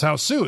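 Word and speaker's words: ハウス: There's no H or S sound. It's mostly syllables like ha or su, so house becomes hasu, which literally translates back to the English sound as hausu. It's meant to represent the original loaned word, which is house.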